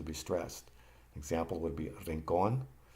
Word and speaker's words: rincón: Example would be rincón, and the accent is on the last syllable.